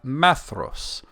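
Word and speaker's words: Maedhros: son m e d h oos it's a maos but if there was an accent on that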